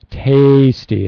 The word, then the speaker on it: tasty: it - how about the word tasty though tasty a little longer a tasty yeah tasty